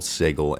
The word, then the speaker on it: Sigil: every couple of hours yes I know it's spelled like sigil but the place is called sigle and I hate it